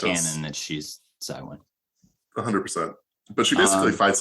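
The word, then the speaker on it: Cywen: I told you this offline, but the audiobook narrator said Cohen. Oh, no. However, at some point in the book, Corbin calls her C-Y, which would not support a Cohen pronunciation of the name. I think it's Cywin, right?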